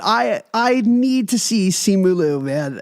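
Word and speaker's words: Simu Liu: I need to see simulu man it's Sean Chi delivering the Christmas story not similu simu simulu okay I just want I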